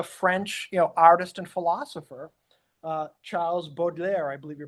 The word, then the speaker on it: Baudelaire: Charles Baudelaire, I believe you pronounce it as, today I felt pass over me a breath of wind from the wings of madness.